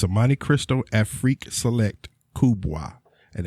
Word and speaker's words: Afrique: I heard you say in that whole word, freak. Afrique, not freak. I heard freak. Afrique. And the reason I said it that way freak is out. it's spelled AFRIQUE.